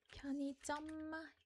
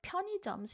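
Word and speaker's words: 편의점: But, if you read it faster, it becomes pyo ni jeom. Pyo ni jeom. Just blend the last ni and sound into the next syllable. So, ui actually sounds like ni, ni.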